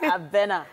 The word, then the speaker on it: Abena: Abena. Abena. Abena. Abena. So it's actually a Ghanaian name. A lot of people struggle to pronounce it, as did I when I first heard it.